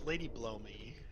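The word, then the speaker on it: Lady Blaumeux: max's lady you know i know it's actually i know how to say this but it's ladyblow me and just because she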